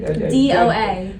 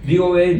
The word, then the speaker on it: DOA: DOA. DOA Derek DOA. Allen. Yes. He pronounces it like DOA. You have Yeah, to say it's like an DOA. acronym. DOA. Oh, DOA.